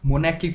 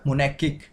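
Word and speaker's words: monarchic: यहाँ पे are silent रहेगा तो ये हो जाएगा मोनार्किक।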